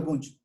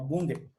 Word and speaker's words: Bunge: Esta parte la agregué más bien por Mario Bunch. ¿Ok? O Bunge. Se escribe Bunge.